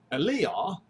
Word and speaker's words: Eliyah: Okay, and Eliah, that's how you pronounce his name correctly. It means Yah is Elohim. Okay?